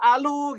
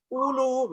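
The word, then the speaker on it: أولو: Tuh, bacanya apa? Bisa alu gitu ya, bisa ilu gitu kan. Nah, untuk menegaskan bahwasannya alif di sini adalah hamzah kotok berupa u, harokatnya u, maka harus muncul waw, ulu begitu.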